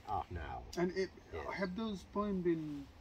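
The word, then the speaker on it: Arnaut: now or yes but obviously in in his language it was spelt and pronounced ah now and have those poem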